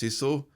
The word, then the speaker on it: sisu: I did check Google Translate and apparently it's pronounced SISU, but I'm a parochial British idiot, so I'm going to say SISU.